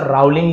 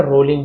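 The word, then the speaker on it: Rowling: writing तो जो रोलिंग बहुत से लोग क्यूज रावलिंग लिखा हुआ है बट आप उच्चारण जब निकालेंगे तो रोलिंग हो रोलिंग ऐसे लिखा लिंग जैसे हिंदी में प तो रोलिंग डेवलप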